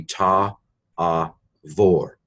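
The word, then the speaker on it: תעבור: Modern Hebrew pronounces a bait without a dagesh as a V sound. So this would be ta, a, vor. Ta'avor, for when you pass.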